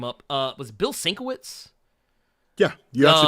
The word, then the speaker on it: Bill Sienkiewicz: Was it Bill Sienkiewicz? Yeah, you actually pronounced it perfect.